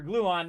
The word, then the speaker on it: Gluon: They didn't bother to tell me there was Dr. Gluon, not Dr. Gluten.